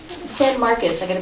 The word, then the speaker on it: San Marcos: that was uh the San Marcos San Marcus I got to pronounce it properly I'm a former Spanish teacher so to me it's San maros but I'll I'll I'll say